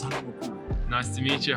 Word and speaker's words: Thando Makhubu: Hello, Thando Makhubu. Is that the right way to pronounce it? Yeah, it's Thando Makhubu.